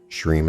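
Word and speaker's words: Shrim: Shreem is actually pronounced Shreem, where you drag out the middle part to run for the duration of the breath.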